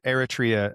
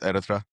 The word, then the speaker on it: Eritrea: Now, how did you I I was used to saying Eratria. It sounds like I've been saying it wrong my whole life. So, how did you say your country's name? It's Eratra. Is that how you say it? Erta. Eratra. Yep. Eratra.